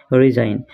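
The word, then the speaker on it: resign: সাম এক নম্বর আছে রিজাইন রিজাইন মানে ইস্তেফা দিয়া জি রিজাইন আছে রিজাইন ইয়াতে যেন জি আছে জিটা সাইলেন্ট আছে জিটা উচ্চারণ করিবো না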